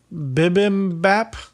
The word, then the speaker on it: bibimbap: Bibimbap. Nice. It's Bibimbap. Bibimbap. Bibimbap. What is it? In Korean, this dish of mixed rice and vegetables is pronounced more like bibimbap.